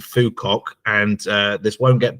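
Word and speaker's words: Phú Quốc: less known Vietnam there's a tiny island called phukok and uh this won't get blocked on YouTube because that's correct pronunciation um but it's a wonderful little island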